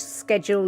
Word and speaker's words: schedule: Do you prefer the soft sh or the hard sk? Snowdrake? So schedule is the British English, schedule is the American English.